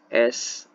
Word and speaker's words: Ace: Kalau bacanya lebih bagus S Oilfields Tbk.